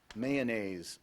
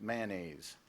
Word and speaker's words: mayonnaise: mayonnaise also pronounced mayonnaise mayonnaise Helga wouldn't eat